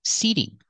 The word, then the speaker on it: seating: outdoor seating available pronunciation seating the t is between vows so in this word we hear the fast e seating seating not outdoor seating